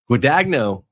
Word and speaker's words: Guadagno: Guadagno is how you say it in English.